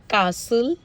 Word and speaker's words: castle: Notice में आया है टी साइलेंट होता है जब वो आफ्टर एस आता है या आफ्टर एफ आता है तो टी साइलेंट हो जाता है। Example कासल, Christmas, फासन, listen, often, विसल, bustle, hasten, soften, rapo.